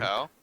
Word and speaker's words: Oshi no Ko: Show number 2, Oshi no Ko. Or as I heard some dude in a bunch of YouTube shorts pronounce it, he goes, Oshi no Ko. He said it one word. Oshinoko.